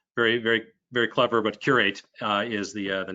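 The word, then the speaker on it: Qr8: eight so um very very very clever but curate uh is the uh the name of the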